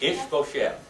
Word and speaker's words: Ishbosheth: Ishbosheth.